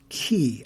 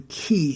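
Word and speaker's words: 계: and it is from pronounced key i believe it is spelled k-y-e and it refers to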